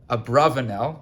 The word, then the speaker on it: Abarbanel: published on the Abarbanel, titled Abarbanel. That's, if you ask an academic, that's how to pronounce the name.